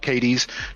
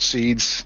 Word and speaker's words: Caedes: It is pronounced Caedes, not Seeds, not Saedes, all the weird stuff.